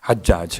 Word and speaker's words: حجاج: لیکن جہاں تک جو زیارت ناحیہ کا جملہ ہے اس کے لحاظ سے اس پر پیش نہیں ہے، زبر ہے، حجاج ہے.